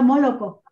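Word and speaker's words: молоко: Allá esta religión ortodoxa rusa tiene fechas en que prohíbe el consumo de leche, y leche en ruso es malaco, y se pronuncia moloco.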